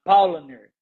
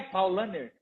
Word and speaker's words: Paulaner: uma palavra pelo menos para eu errar a pronúncia. A paulaner. Paul a Paulana. Paul. Claro que eu não ia acertar. Como é que é? Paulner.